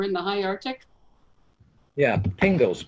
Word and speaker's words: pingo: Yeah, pingos, P-I-N-G-O. It rhymes with bingo, starts with a P.